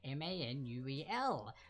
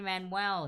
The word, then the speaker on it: Manuel: So it is actually Manuel, not Manuel. So Lin-Manuel Miranda, for those who may have seen the name and were like, oh no, maybe it's a syllable too long.